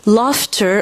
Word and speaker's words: laughter: Laughter. En fait, ça s'écrit L a U ghter. Par contre, ça se prononce F.